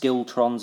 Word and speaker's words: schiltron: It's pronounced skiltrons, apparently. I'm going to pronounce it schiltrons.